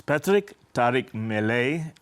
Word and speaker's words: Patric Tariq Mellet: Patric, maybe we should just start with your name, because up until this moment I used to pronounce it as Patric Tariq Mellet. It's Patric Tariq Mellet.